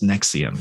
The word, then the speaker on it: NXIVM: And it's pronounced NXIVM. So please don't say the Roman numerals or anything.